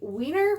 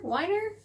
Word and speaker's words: Weiner: two books by jennifer w weiner winer weiner sorry if i pronounced that wrong um i want to say it's whiner but i got mrs